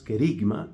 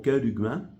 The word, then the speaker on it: querigma: dentro de esa noticia o dentro de ese mensaje que usualmente lo llamamos querigma, aunque la pronunciación más correcta sería algo como kerigma, en el querigma, en el anuncio fundamental, hay cosas que se dicen.